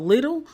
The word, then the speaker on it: Lidl: his car I want to say it's called little I'm gonna spell it for you Lidl is on Stone Mountain